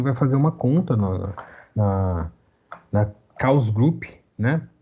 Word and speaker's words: Chaos Group: fazer uma conta na Chaos Group, né? Tem algumas pessoas que pronunciam Chaos Group, mas eu acho que é invenção de brasileiro. Eu falo Chaos Group mesmo, tá?